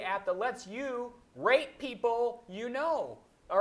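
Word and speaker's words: Peeple: that lets you rate people you know. All right. The app is called People, but it's spelled PE pl.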